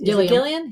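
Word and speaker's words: Gillan: second ago about uh karen gillian thank you i always want to say that with the soft g i don't know why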